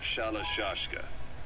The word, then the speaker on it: Shalashka: somewhere along the line, Shashka got stuck on the end of Sharashka. The gorillas were using the name amongst themselves. By the time I got to hearing about it, pronunciation had wound up as Shalashka.